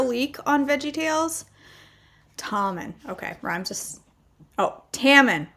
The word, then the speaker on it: Tommen: Okay, Tammen. Rhymes with salmon.